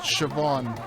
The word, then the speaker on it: Siobhan: And the first words out of her mouth after I'm done talking is, it's pronounced Siobhan.